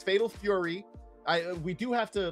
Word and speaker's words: Fatal Fury: I We do have to like really really be careful with our pronunciation because I know in the past we were hanging with Ash in chat and she uh thought it was Fatal Furry and that became a big issue.